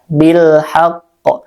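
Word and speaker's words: بالحق: Jadi lamnya dibaca izhar jelas. Bilhaqq.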